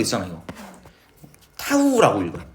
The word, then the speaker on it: 타우: 이거 타후라고 읽어. 뭐 그리스 문자인가뭐 중요하진 않아. 타우는 r 어 파레기 곱하기 f 힘.